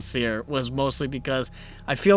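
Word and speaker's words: Cyre: refugees interesting point um keith baker the guy who makes the session pronounces seer as siri personally so so you could follow that to how his refugee name might sound he must be an android user then because anyone with an apple phone would hate that honestly that was the sole reason that i decided i don't want to pronounce it siri i want to pronounce it seer was mostly because i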